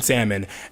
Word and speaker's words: salmon: to you these people these are the people who like pronounce the L in salmon anyway there are album